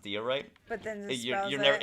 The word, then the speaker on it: diorite: Magic Toast says, it's actually pronounced diorite.